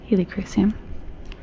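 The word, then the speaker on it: Helichrysum: Helicrysum. There we go. I'm always trying to add another syllable to it, but it does play. Doesn't need the other syllable.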